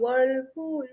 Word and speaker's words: whirlpool: But yes, they had Yes, this popular song Whirlpool, Whirlpool. yeah, So right. you can try and I try remember. to even sing that song to pronounce this word "wa."